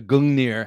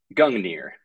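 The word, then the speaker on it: Gungnir: i said right up front um the the gangneer how do you pronounce that first of all gungner the gang gear and that's this beautiful hefty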